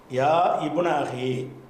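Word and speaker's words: يا ابن أخي: இப்னுலயும் ஒரு அலிஃப் இருக்கும் ரெண்டு அலிஃபுமே உச்சரிப்புல இப்ப போயிரும் ஏன் போயிரும்னு கேட்டா யாபுனன்னு நீட்டி சொன்னோம்னா ரெண்டு சுக்குன் வந்துரும் அதனால அந்த அலிஃப் வந்து எழுத்துல இருக்கும் ஓசையில வராது அப்ப யா இப்னு அஹின்னா எப்னா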